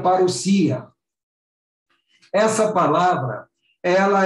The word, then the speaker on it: parousia: Então, se escreve parousia, mas se pronuncia parousia.